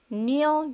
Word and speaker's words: kneel: إذن إذا كان الحرف K في بداية الكلام متبوع بحرف N في اللغة الإنجليزية في أي كلمة، لا ينطق حرف K بل ننطق مباشرة حرف N.